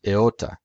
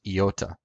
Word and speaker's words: iota: the Greek letter Theta Yoda in classical Greek is pronounced eota in Co and modern Greek is pronounced iota now in classical Greek